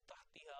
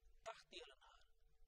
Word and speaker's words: تحتها: this tahti al-anhar, or tahtiha or tahtaha has been mentioned. Now, 34 times it has appeared tahtiha lanhar, the third letter with kasra, tahtiha lanhar, starting from Surah Al-Baqarah,